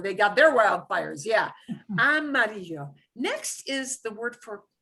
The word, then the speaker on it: amarillo: And here's a multi-syllable word. So we're going to take this slowly. Amarillo. Amarillo. We have a city in Texas named, and the people pronounce it Amarillo, Texas.